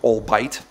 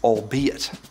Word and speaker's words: albeit: gif a jiff 20 itself called all bite its albeit 21 that one can